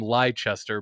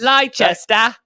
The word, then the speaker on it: Leicester: I'm gonna pick Leicester, but I'm gonna call them Leicester because that's how it should be pronounced. Leicester.